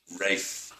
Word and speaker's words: Ralph: There is a tradition in the UK, in England, of pronouncing R-A-L-P-H, Ralph, as Rafe.